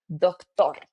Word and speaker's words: doctor: For example, if I want to say doctor, in Spanish, we say the same, but the emphasis is at the end. So you will say doctor, doctor, and doctora.